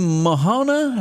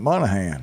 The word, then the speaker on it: Monahan: there he is porkies Dan mahona how do you say that um Monahan Monahan you okay we got